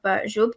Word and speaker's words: Jube: Fida Ur Rahman is a lecturer at the University College of Jube campus, Pakistan. I had to memorize how to, pronounce that because it's not Arabic, and it's neither English nor Arabic, so it's Jube, right?